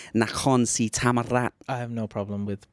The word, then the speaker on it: Nakhon Si Thammarat: How do you get on with pronouncing Nakhon Si Thammarat? I have no problem with pronunciation. But especially Nakhon Si Thammarat, like. Oh, see that roll of the R?